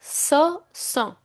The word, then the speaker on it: ce sont: So these are is pronounced as ce sont.